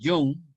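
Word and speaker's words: Jung: así como en la psicología clásica de jun se escribe hun con j y G Al final suizo uno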